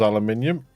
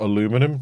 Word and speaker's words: aluminium: That was aluminium, or aluminum, depending how you pronounce it, where you're from.